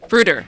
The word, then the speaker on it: Bruder: And Bruder? Bruder. Yes. Bruder Yes. is a proper way to say Yeah.